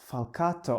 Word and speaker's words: Falcato: His name is Ricardo Falcato. I didn't ask you how it's pronounced in Portuguese. It's Falcato, it's how you said it. Okay, because it sounds very Italian to me, and I know Portuguese